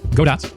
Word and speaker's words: Godot: that are really common there's goo G godat Goot and the one that I used G and I'll add a quick disclaimer here however you want to pronounce it is fine except for guda that's just wrong maybe eventually one pronunciation